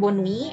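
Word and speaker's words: bonne nuit: kemudian Hai ada juga bonwin ya ini dibunyikan Boni artinya selamat malam digunakan ketika akan menutup percakapan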